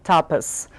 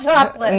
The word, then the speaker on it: tapas: how it pronounced it it was a tapas bar not topless not topless yeah toughest i have